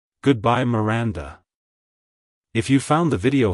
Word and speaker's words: Miranda: sound at the end avoid stressing the first syllable too much like hello Miranda goodbye Miranda if you found the